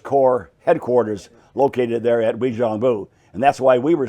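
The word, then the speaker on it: Uijeongbu: Wijeongbu.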